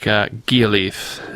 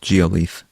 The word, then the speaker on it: Gialeaf: And it looks like Gialeaf is how the name is pronounced. She says soft G in the postscript there. Gialeaf.